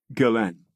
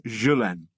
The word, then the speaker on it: Ghislaine: Bill Sweeney no relation went with a hard G calling her Galan Galan was born in